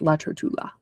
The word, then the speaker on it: Trotula: Yes, La Trotula.